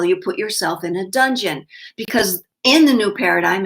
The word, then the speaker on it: donjon: reading Donjon and saying, Don, John, what kind of name is that? And they're like, pronunciation, look at the pronunciation. And it was dungeon, but not spelled that way.